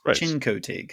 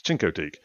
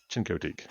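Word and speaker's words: Chincoteague: of their town right it's Cinco TIG it's chinkotique I don't have a shin I have a chin yes chinkotique yeah but I I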